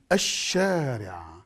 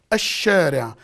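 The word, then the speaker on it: الشارع: Al-shari'. Al-shari'. As if there is no lam. But when you write it down, it's written.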